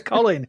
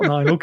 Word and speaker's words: Colin: It's Colin. You're saying my name backwards. Nillock. Nylock. It's not Nylock, it's Colin. It's Colin.